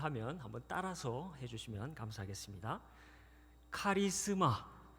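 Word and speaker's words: χάρισμα: 카리스마. 네, 잘 아시는 익숙한 단어이실 것입니다. 카리스마 한 번 더 하겠습니다.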